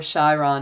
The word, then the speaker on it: Chiron: going for the rising here comes Chiron or Shai Ron as some people will pronounce it a little differently but this is a